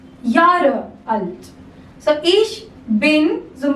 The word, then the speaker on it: Jahre: A is pronounced as Y. Jahre alt.